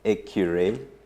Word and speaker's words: Ekure: He said Ekure, that abbreviation happens to be a little hard for many people to pronounce, but it's Ekure in our easier Uganda pronunciation or Ugandan pronunciation.